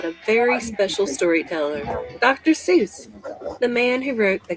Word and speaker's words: Seuss: Fun fact, Seuss is supposed to rhyme with voice, not goose.